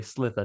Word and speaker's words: Slither: Slither, not Sliver, not that one where